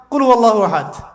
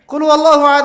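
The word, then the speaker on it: قل هو الله أحد: আরেকটা সূরা পড়ে গেলাম কুলহু আল্লাহু আহাদ কি কুলহু আল্লাহু আহাদ মানে কি এটা উচ্চারণই বা কেমন করে করতে হয় কুল বলুন হু আল্লাহু আহাদ তিনি আল্লাহ এক এই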